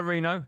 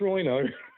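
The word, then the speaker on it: Reeno: Hello, Reno. How you doing? I'm doing well. Hello, guys. Nice to talk to you. Likewise. Yeah, you got the name right. You pronounced it brilliant. Well done. Normally it's Rhino.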